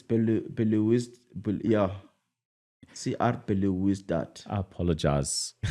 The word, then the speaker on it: Belouizdad: AS Otoho and CR Belouizdad. Yeah, you got it. Belouizdad. That's better. That's Group C with Stelli's. It's Belouizdad.